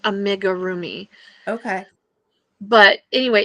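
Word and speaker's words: amigurumi: Here it's they they always tell you that it's pr pronounced amigga roomi.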